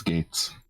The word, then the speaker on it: Geats: So yeah, I would say Geats, or not Geats, Gates. Gates. Bandai, why the fuck do you have two riders that have the same pronunciation?